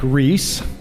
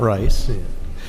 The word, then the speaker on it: Reiss: here for mike mike reese i have to say it right it is not rice i am your host